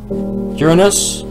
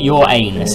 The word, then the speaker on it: Uranus: where where is Uranus Uranus and I am saying it correctly it's not your anus it's Uranus but anyways